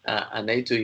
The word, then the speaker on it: أنيت: Basically, this anaitu here, this word, how is it pronounced? It's pronounced anaitu.